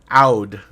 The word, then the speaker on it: oud: better than i can it's a out out okay yeah no like loud without an l yeah because that that's